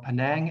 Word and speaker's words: Penang: Today I have my friend David Rowley with me, a professional player in Malaysia for Penang FC. Is that how you pronounce it?